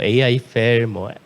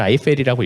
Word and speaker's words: AIFFEL: 아이펠이 사실 이렇게 영어로 써놓으면 보통 AI펠, A펠 많이 읽어주시는데 어떻게 읽어도 사실 상관이 없긴 한데요. 저희는 아이펠이라고 읽고 있는데 인공지능과 에펠탑의 합친 단어예요.